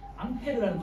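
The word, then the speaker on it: Ampère: 암페어는 과학자 중에, 프랑스 과학자 중에 앙페어라고 있어요. 앙페르 소리. 앙페르라는 과학자가 이거에 대해서 알아봤기 때문에 그 앙페르에서 A자를 따서 단위가 A라고 해요. 단위. 그리고 읽을 때는 암페르라고 읽어요. 기억하세요. 전류의 기호는 I고 단위는 암페어.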